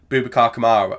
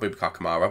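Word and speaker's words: Boubacar Kamara: Watkins and it smited bubacar Kamara not bubak kamaro where did that come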